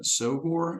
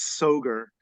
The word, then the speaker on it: Soghor: an interview with soor is that how we pronounce your last name yes that's a fine pronunciation any pronunciation is fine but yes soar so okay um and